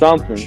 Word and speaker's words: Rouge: Shadow the Hedgehog and Roach the Bat, Rogue, Rouge. and I think it's pronounced Rouge.